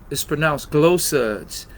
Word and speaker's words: Gloosuds: It's pronounced glow suds, but someone already had the W and someone only had the one O. So we added two O's, but it's glow, as in shine.